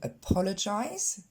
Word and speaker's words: apologize: Et on va le décomposer au niveau de sa prononciation. C'est pas un A, mais un E au début, et il n'est pas du tout accentué, c'est le deuxième, pas, le, encore le son E, et enfin le son I pour jize.